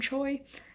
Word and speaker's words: Choi: on Mary Chui which the Korean pronunciation of this is Trey but I have heard this author in an interview pronounced her last name Choi that's very interesting I